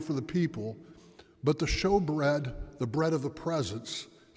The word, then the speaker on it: Shewbread: Again, I ask you, some of the young people may have heard this too, but anybody heard the term showbread before? Showbread, it's spelled in English Shewbread, all right?